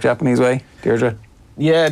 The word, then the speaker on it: Deirdre: Am I pronouncing it the correct Japanese way? Deirdre? Yeah, Deirdre.